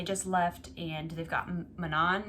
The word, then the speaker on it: Manon: left and they've got manon now which apparently that's how you say it not gosh i don't